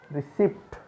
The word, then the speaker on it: receipt: Receipt. No. Receipt. कोई भी रसीद होती है जब हम उसे बोलते हैं receipt. P is silent here.